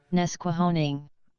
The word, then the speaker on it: Nesquehoning: How to pronounce it. Oh, you need you got it? Yeah. Nesquehoning. Nesquehoning.